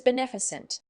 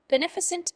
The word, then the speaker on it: beneficent: effectively the word is beneficent word type beneficent is an adjective it's pronounced as nef a sunt with the stress on the second syllable meaning beneficent means doing